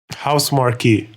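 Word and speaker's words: Housemarque: Is it House Marquee or House Mark? House Marquee. House Marquee.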